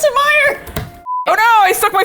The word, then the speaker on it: Meyer: She does pronounce it Meyer.